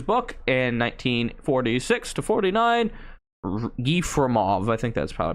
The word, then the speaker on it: Yefremov: Yefremov, I think that's probably pronounced that, was studying fossils in the Gobi